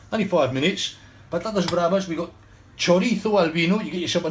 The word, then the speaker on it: chorizo: not chorizo choddy thought the zed is said like a th or you're going to say like is it chorizo or chorithal nothing else um right